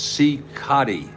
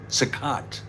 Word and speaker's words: Cicotte: It's Cicotte. Cicotte. That's how it's pronounced.